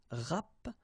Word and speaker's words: rapporter: You can also use this RAP, rapporter, rapporter. So same thing here, you don't pronounce the double P.